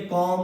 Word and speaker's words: comb: अगर एम के बाद बी हो, एम के बाद बी हो तो बी क्या होता है? साइलेंट होता है। COMB। देखिए एम के तुरंत बाद क्या है? बी। तो क्या बोलेंगे? कॉम।